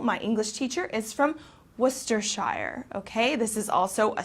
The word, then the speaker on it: Worcestershire: and for example my english teacher is from worcestershire okay this is also a sauce that's popular to put on steaks worcestershire sauce okay so make sure you pronounce it